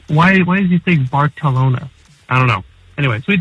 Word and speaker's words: Barcelona: the trip away but usually when you say Barcelona you sound like a dumb Gringo and you get corrected at least in Spain and that's the Spanish pronunciation is they go very heavy on the balona like that I'm pretty white maybe